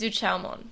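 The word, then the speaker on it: Zhuqiaomon: It's Zuchaomon.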